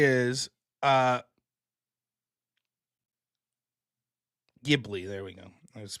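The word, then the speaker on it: Ghibli: First thing to say is uh Gibli. There we go. I was pronouncing it wrong.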